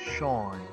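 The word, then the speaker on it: Seam: let's talk by yourself the name seemed pronounced Shawn who's my little secret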